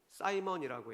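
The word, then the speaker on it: Simon: 영어로도 성직 매매라는 단어가 영어로 시몬을 사이몬이라고 읽는데 사이먼이라고 해요. 사이먼.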